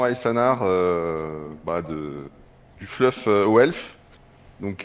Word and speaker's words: Aesanar: Alors, Aessanar, Esanar, comment je suis censé prononcer ton pseudo ? Et ben, Aanar, bonjour S baguette. Et oui, c'est effectivement Aanar, bah de du fluffelf, donc descendant de Alitanar, le roi fantôme.